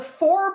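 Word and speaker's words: Fore: tissue please so the four people and I hope it's pronounced four it's spelled f o r e there was no accent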